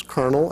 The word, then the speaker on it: colonel: from many other languages ever wonder why we pronounce kernel as if it's a kernel of corn spelled with with an r looks like colonel to me actually it's because of